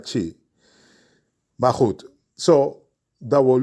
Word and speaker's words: Twi: En chi, je schrijft in twi, dus T-W-I, maar uitspraak naar chi.